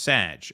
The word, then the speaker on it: Sag: Sag is pronounced Sag. Oh, like Sagittarius, so Scorpionic Sag.